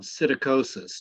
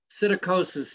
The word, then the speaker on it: psittacosis: So you probably deserve an evaluation to make sure that you don't have psittacosis. Do you know what I'm talking about? No. Okay, so psittacosis, it's spelled with a P-S. Sit, P-S-I-T.